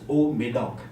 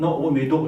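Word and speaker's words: Haut-Médoc: Then the Médoc, so to say, everybody say that it's Old Médoc. Not Old Médoc also, it's all sound, Old Médoc, Old Médoc.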